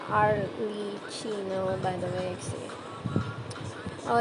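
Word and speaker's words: Arlecchino: at ah by the way her name is pronounced AR Le Chino by the way see oh yeah I keep say arino Aro arino thank you for that I appreciate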